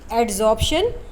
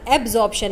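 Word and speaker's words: adsorption: We will study एड्जॉर्प्शन। आई एम not pronouncing एब्जॉर्प्शन। मैं एब्जॉर्प्शन नहीं बोल रही हूँ, मैं बी नहीं बोल रही, मैं डी बोल रही हूँ।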